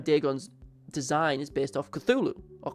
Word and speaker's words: Cthulhu: And at the same time, Dagon's design is based off Cthulhu, or Cthulhu, if you want to pronounce it like how it's supposed to be, because you're supposed to cough it out.